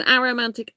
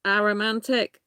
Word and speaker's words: aromantic: attraction i pronounce it aromantic uh many people pronounce it a romantic um but i prefer to pronounce it aromantic possibly because i'm a